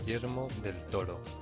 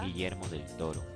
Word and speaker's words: Guillermo del Toro: This is a pronunciation from Spain. Guillermo del Toro. This is a pronunciation from Colombia. Guillermo del Toro. And then Rainy Man is from Ecuador. Guillermo del Toro.